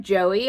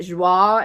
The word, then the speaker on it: Joie: It looks like Joey. I called this Joey for maybe the first 3 years of reselling, and then I watched a YouTube haul and someone pronounced it Joie and my mind was blown. So if you're a new reseller, this is Joie. I don't know how to like spell it out for you. It's almost like Z-W-A-H, Joie. Does that make sense?